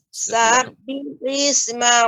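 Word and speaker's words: سبح: Ketika mengucapkan sabbihis seharusnya langsung sabbihis ya, tidak sabbihis. Nah, ini ya agak terasa panjang.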